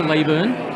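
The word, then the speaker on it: Leyburn: And if you ever get to this area, pop out to Leeburn.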